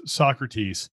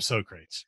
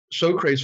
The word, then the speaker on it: Socrates: floor they did they they didn't know how to pronounce it um so crates but i always call them we just call i just call them sock you know okay or